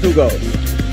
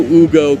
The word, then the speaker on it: Hugo: Spelled Hugo, pronounced Hugo.